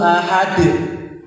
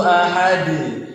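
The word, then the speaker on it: أحد: Kalau kita bacanya ahad itu seakan-akan kita menambahi huruf alif yang berharakat sukun.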